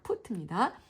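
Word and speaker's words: put: 풋 풋. 어, 네. 퍼트 아닙니다. 풋입니다.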